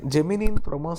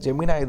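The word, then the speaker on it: Gemini: Okay, actually அது ஜெமினின்னு pronounce பண்ணக்கூடாது. ஜெமினாய் தான் ஆக்சுவலி. அது நம்ம ஊரில் தான் ஜெமினின்னு வாங்க. பாருங்கள், ஜெமினாய் தான் சொல்கிறாங்க பாருங்கள்.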